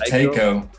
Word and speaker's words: Taiko: Oh, it's Taiko. Taiko. Like it is Taiko, but like you can. There's like two different pronunciations for it, so you can either say Taiko or Taiko.